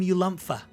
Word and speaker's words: Ulumpha: your name again oh i'm sorry dearie i'm ulumpha how do you spell that well that's going to be spelled u-l-u-m-p-h-a